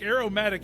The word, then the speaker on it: aromatic: how you say it o not air a i r check no a r o yeah aome not Arrow aromatic it's like Aroma I